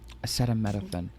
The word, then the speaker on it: acetaminophen: Acetaminophen.